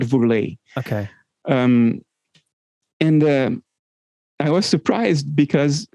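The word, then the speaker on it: Woerlee: I think in English you would say Worley. Oh, okay. Gerard Worley, I think you would pronounce. But in Dutch it is Gerard Vourlet.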